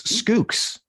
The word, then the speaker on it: Schoox: platform evangelist at uh how do you say that it is skooks like school with an y nice let me say